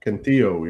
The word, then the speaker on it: Cantillo: I'm just going to double check before I say the name wrong. Joey Cantillo. Yep. Cantillo, yeah.